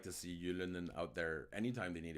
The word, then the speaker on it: Ylönen: Okay, Trizak mentions Ylönen, which, okay, that's how you actually say his name, but I mess it up every time.